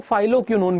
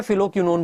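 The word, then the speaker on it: phylloquinone: से जाना जाता है जिसे कई लोग फाइलो क्योन भी बोलते हैं मैं फिलो क्योन बोलता हूं क्योंकि ब्रिटिश यही अ प्रोनाउंस करते हैं और देखो दोस्तों बिल्कुल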